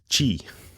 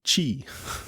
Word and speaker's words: Qi: Belkin was Chinese and when I said key she look like me like with big Isis's no no you have to pronounce it Qi so since that day I always say Qi okay so now I